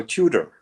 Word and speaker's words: Tudor: is a good question I think uh Hans will starve wanted to have it pronounced the English way so Tudor so is that a